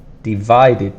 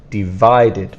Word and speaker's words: divided: spelling the problem uh spelling and pronunciation we might have is that this two eyes have a different sound divided by and the strong sound is on the second sound divided by and remember to